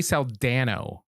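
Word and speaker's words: Saldaña: you right there yes so I think with the Tilda you're supposed to say Nia and without it it's okay to just say Dana well I mean she's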